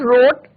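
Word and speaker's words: wrote: W silent रहता है, right, रोट और नॉवल।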